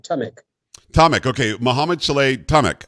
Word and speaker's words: Tamek: i say it right yes it is right tamik tomic okay mohamed saleh tamak uh you are